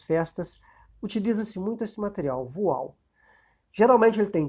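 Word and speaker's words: voile: compra um tecido chamado voal. Voal, se escreve V-O-I-L.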